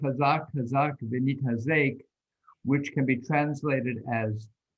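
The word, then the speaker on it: חזק חזק ונתחזק: And let me pronounce it for you, and then together we can say it. We say, Hazak, Hazak, Venit Hazek.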